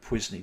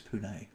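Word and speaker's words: pari passu: on a punee basis a lot of people pronounce that pisney don't it's punee they explain that in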